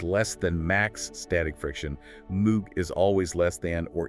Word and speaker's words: mu: It's represented by the Greek letter e pronounced moo. Moo.